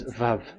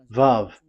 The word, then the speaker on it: Vav: So the word, the shape Vav is really pronounced V, like Vogue.